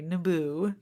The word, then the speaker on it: Naboo: and there's one planet, Naboo, where the trade emphasis on the second syllable. Naboo, where the Trade Federation has stopped all trading, I guess.